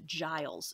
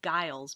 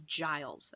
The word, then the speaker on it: Giles: Giles Corey is another farmer, another landowner, and his name is pronounced Giles. Students always want to call it Giles, but his name is Giles, okay?